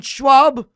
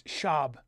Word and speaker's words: Schaub: a podcast with Brandon Schwab it's shab don't say Schwab I'm saying it wrong yes it's Brendan sha it's a German name you could hello oh